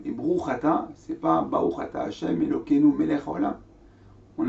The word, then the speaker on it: Baruch Ata: à dire, par exemple, au lieu de dire Baruch Ata, dire Bruch Ata, ou bien au lieu de dire Melech HaOlam, on dire Melech Olam.